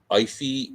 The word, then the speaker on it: Aoife: Her name's Ify O'Donovan. She's really good. Ladies and gentlemen, Ify O'Donovan, yeah. O'Donovan. How's that for a first name? It's spelled Aoife. I don't have.